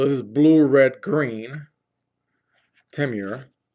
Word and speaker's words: Temur: Temur, if that's the way it's pronounced, not Timor like the country or region.